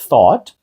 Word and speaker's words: thought: або думав в минулому так ось thought ou вже звучить як о просто не O а O thought далі through через наприклад